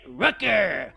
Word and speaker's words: Rooker: Brent Rooker, which rhymes with hooker to win the derby.